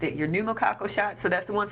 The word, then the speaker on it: pneumococcal: your flu shot your pneumococcal shot yes I pronounced it your pneumococcal shot so that's the one for pneumonia hepatitis